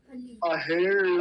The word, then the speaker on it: अहेळ: ये ल जैसा उच्चारण होता है ल, और वो भी कहाँ से, मूर्धा से, ऊपर, जीभ को ऊपर ले जाके, जहां से ट बोला जाता है। अहेळ मानो, अहेळ मानो।